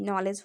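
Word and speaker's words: knowledge: ठीक है, नॉलेज में भी आप डी को साइलेंट कर दीजिए, डी साइलेंट हुआ, NOKNOWLEGE, नॉलेज हो गया, आप डी हटा दिए। ठीक है, तो इसका सही प्रोनाउंसिएशन नॉलेज हो गया।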